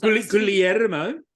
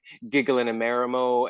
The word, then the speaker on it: Guillermo: to also just like tell people how to pronounce my name. Yeah. Okay. Helpful. Would you like us to do that? Like Guillermo. Okay. Okay. Guillermo. Oh God! Like I've had like Giggle and a Marimo, and I'm just like, how many extra letters